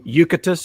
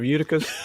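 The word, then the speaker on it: Eutychus: my church this morning kept calling calling him yucatus instead of uticus the guy who fell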